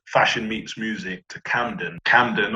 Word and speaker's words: Camden: meets music to camden camden obviously rhymes with mandom and we decided to